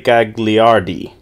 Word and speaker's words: Gagliardi: I was going to say Gagliardi. That'll work. That'll work just fine. Okay. Well, technically in Italian, the second G is silent, but I've been called much worse.